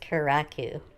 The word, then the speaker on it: Kurraku: if you're here now you know it is pronounced keraku and the zero is pronounced zero obviously karakuzeera